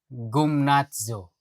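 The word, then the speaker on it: γυμνάζω: Ang pronunciation, gymnazo. Pero yung spelling niya, gym. G-Y-M-N-A-Z-O.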